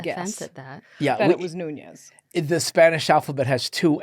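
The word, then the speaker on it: Núñez: other than Oscar Nunes now is it Nunes or it's not Nunes it's Nunes but I I answer to both it's fine yes yes some people say Nunes yeah how do how does someone not know it's n that it's nun I without even the what's it called a till day yeah exactly without the tild day God do you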